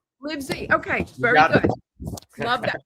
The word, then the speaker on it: Livezey: There's Chris Is it LeBriezy? Uh it's pronounced like Liv-zee. Liv-zee.